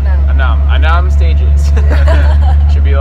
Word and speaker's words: enam: How do you say six in Indonesia? Enam. Enam. Enam.